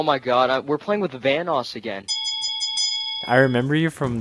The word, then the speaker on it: Vanoss: god we're playing with vanoss again i remember you from the other night because you called me vanus now you say my name right yeah i called you